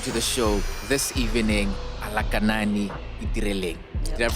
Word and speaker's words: Alakanani Itireleng: Ladies and gentlemen, let's welcome to the show this evening, Alakanani Itireleng. Yep. Did I pronounce it well?